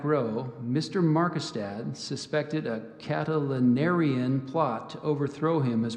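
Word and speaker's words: Catilinarian: in the back row Mr markestad suspected a catalanarian plot to overthrow him as president of the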